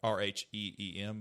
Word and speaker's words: Rheem: said to your wallet r-h-e-e-m but yes phonetically it is oh it's rheem so it's gonna be uh